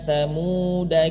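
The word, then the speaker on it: ثمودا: Kalau kita baca sambung, ala inna thamuda kafaru rabbahum. Ya. Alifnya tetap tidak dianggap.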